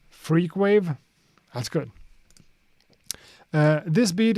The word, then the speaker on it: Frq.wav: Frq.wav pronounced freakwave.